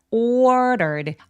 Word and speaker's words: ordered: ordered r가 모음 사이에 끼어 있는데 이런 경우에 d를 굴려서 발음할 수 있어요. 그래서 ordered라고 르라고 소리를 내는데 마치 스페인어에서 왜 마르게리다 할 때 굴려가는 그 소리가 맞아요.